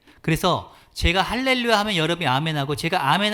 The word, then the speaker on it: 할렐루야: or 수도 있대요 그래서 할렐루야 할렐루야 한달에 볼까요 할렐루야 제가 하면 따라서 요 할렐루야 이렇게 발음하는 것이 히브리 문법적으로 도 적합하다는 것입니다 그래서 이 시편 106